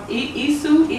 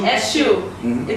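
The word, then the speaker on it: Èṣù: There's no S in it, no H in it, so it kind of yes, when you see that we put the dot under the S, and then I let you know. It's a sh.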